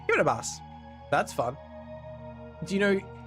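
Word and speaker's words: Kiribati: The country Kiraabati is pronounced like Kiraabas. Kiraabas.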